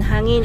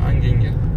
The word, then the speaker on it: hangin: so at least no hangin, it's wind. Kasi nung windy po hindi kami makalabas. Now we can hangin. Moi j'ai vu hanging. No. Hanging j'ai vu sur internet. Hangin. Sa prononciation.